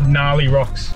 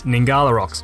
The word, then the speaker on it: Ngkala Rocks: called nah the rocks now the rocks or gnarly rocks yeah nah the correct pronunciation is ningala rocks which is important to get right unless like